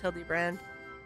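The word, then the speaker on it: Hildebrand: It's pronounced Hildy brand.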